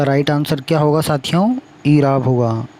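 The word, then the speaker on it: اعراب: ईराब होगा। Option number 4 इसका right answer होगा, ईराब होगा, यानी अलिफ के नीचे जेर होगी।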